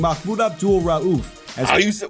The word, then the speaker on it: Mahmoud Abdul-Rauf: I had the pleasure of interviewing Mahmoud Abdul-Rauf. What? How do you say that name? That was some good pronunciation.